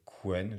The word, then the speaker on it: Qwen: Donc ici, j'en ai quelques-uns, essentiellement DeepSeek, Qwen, je crois qu'il faut prononcer Chen, mais enfin, j'en suis pas très sûr. Donc Qwen ou Chen, et puis j'ai ici Gemma, donc c'est Google, hein.